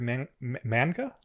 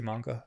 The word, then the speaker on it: manga: I'd never heard manga. I'd never heard manga before. I'd always heard people say manga, so that's because that's how if you're phonetically saying it, that's how it's said in Japanese.